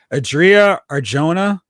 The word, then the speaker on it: Adria Arjona: like doing that because Adria Arjona, I believe is how you pronounce her name.